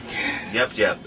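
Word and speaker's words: Yep Yep: Yup Yup, Y-E-P. Ah, so it's an E. We didn't know if it was Yup, like Y-U-P, or Yip, or Y-I-P. Okay, so it's Yup. A lot of people say Y-U-P. It's Y-E-P, Y-E-P.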